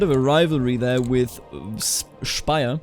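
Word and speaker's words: Speyer: a rivalry there with spire not spy I'm I'm German I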